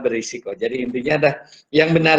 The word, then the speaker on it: berisiko: Tapi nggak ada masalah pengucapannya, sudah sangat biasa kita mengucapkan beresiko, padahal berisiko.